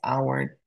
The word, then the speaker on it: hour: soundless for example in hour it doesn't make a sound we don't say how because it doesn't make sense we pronounce this word as our without the letter H it's soundless so we're silent so